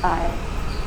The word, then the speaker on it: isle: Limitless, like ocean round the loneliest Isle, the S is silent. Isle.